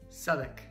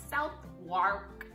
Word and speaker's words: Southwark: Southwark. Yeah, Southwark. Looks like South Wark, but it's Southwark.